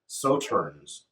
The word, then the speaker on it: Sauternes: The way it's spelled would have me pronounce it differently, but Sauternes is how they pronounce it. So this is rested in a Sauternes barrel.